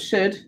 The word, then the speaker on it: should: an o and then it's a silent l isn't it don't hear that l so we have to fix the l ooh okay so rather than crossing out the whole of should tick tick tick tick